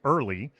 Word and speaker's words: IRLI: website it's um our our acronym for the immigration reform law Institute is pronounced early but it's spelled IR